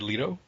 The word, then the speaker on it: Leto: Wall Street and Jared Leto for Dallas Buyers Club is it Jared Leto it's actually Leto because he has been